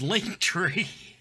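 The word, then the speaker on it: Linktree: are sean whalen actor you cannot actually pronounce that it's link tree yeah link but they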